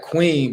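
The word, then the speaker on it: quean: so it depends so they got Queen but it's spelled q-u-e-a-n which is a worthless woman a trumpet or wow obsolete but that's it's the same pronunciation but different spelling so you got to understand how people are using you saying Queen but it's the same sound so how you determine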